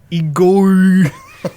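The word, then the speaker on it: Igorrr: number 32 we have igor not tyler the creator with spirit you gotta roll your r there igor spirituality and distortion uh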